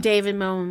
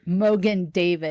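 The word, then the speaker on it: Mogen David: any kind of big dinner or anything have David moan wine am I saying it right Mogan David oh I got the names the David Mo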